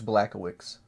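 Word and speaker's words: Błachowicz: It's Blackowicz. That's how it would be pronounced.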